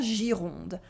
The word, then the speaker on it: Gironde: Again, we have a soft G before the I that makes the sound J, and the French R, gir, and the nasal vowel on, Gironde.